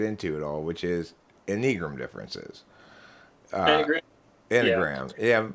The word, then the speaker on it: Enneagram: normally don't get into at all which is enigram differences yeah it's pronounced enneagram but i i said it in my head when i read the word first i pronounced it a negro it was a long time after i read